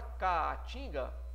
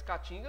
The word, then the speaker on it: caatinga: Na palavra caatinga, você não fala caatinga. Caatinga existe, mas caatinga não tem dois As. É um A só. Se fala caatinga. Essa pronúncia te leva a separar a sílaba dessa maneira.